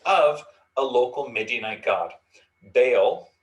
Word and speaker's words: Baal: a local midianite god baal or baal would have been kind of the pronunciation but baal of pior now the word bail um it's the one we're most familiar with the pronunciation of means master and so